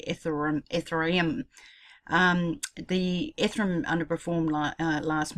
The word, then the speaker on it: Ethereum: thought I'd do one on what's wrong with a throne sorry but pronouncing correctly if the room ether I am the Ephraim underperform light last month in August